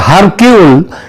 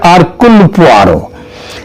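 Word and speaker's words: Hercule: এবং তার গয়েন্দা আরক এটা যদিও উচ্চার উচ্চারণে এটা হয় হারক কিন্তু একচুয়ালি উচ্চারণটা হচ্ছে আরকুল তিনি যদি আজ বেঁচে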